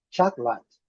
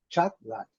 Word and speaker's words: chocolate: Em português, nós temos 4 sílabas. Em inglês, nós temos apenas 2 sílabas aqui, a marcação. Chocolate, chocolate, chocolate, chocolate, chocolate. Okay? Esse O pode ser mudo e esse E também mudo.